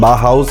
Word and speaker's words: Bauhaus: Pronunciation बाहाउस है, आप कोशिश कीजिएगा सही प्रोनाउंस करें।